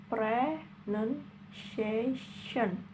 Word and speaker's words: pronunciation: Kemudian pronunciation itu ada 5 syllable. Bacanya pronunciation. Penekanannya pada kata A, pronunciation, A-nya ya.